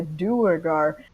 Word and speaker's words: Duergar: It's pronounced Duergar. I'm just letting you know.